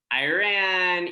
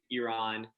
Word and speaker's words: Iran: a lot of like iran iran um iran not not exactly not exactly how it's pronounced yeah the the correct way of saying it is iran um in the united